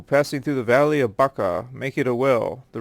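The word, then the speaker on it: بكة: 3:96 is pronounced as Baka with a b and not with an M but this slight linguistic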